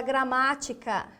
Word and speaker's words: gramática: vamos dividir pro paritas conte as sílabas de trás para frente primeira segunda terceira ou seja proparoxitona acentuada gramática gramática primeira segunda terceira